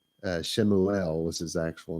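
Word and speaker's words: Shmuel: guys know who I'm talking about right uh shimuel was his actual name anyway where are we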